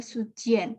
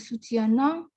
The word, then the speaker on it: soutiennent: Ya, jadi melafalkan qui me soutiennent toujours et priant. Padahal subjeknya adalah mes parents. Orang ketiga jamak itu tidak disengaukan di akhir, jadi bukan priant atau soutiennent, tapi soutien et prie.